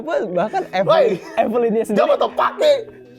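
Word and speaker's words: Jobu Tupaki: Evelynnya sendiri, Jobo Topaki, bukan Jobo Topoki.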